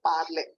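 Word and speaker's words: parlé: is also parler only because E with accent aigu pronunciation is A sound, parler.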